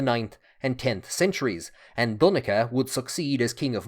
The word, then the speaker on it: Donnchad: Over time, a H was added at the end, changing the pronunciation to Donnchad, a name still common in Ireland today, and the pronunciation which I tend to use in my videos.